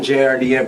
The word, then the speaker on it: JRDN: it's your boy jordan jrdm pronounced jordan we're here chillin at